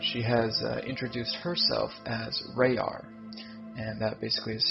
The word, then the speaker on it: RaYaR: has introduced herself as RaYaR, and that basically is spelled R-A-Y-A-R. And it's basically kind of looking at raw, and then raw backwards, and then of course separated in the middle with the Y.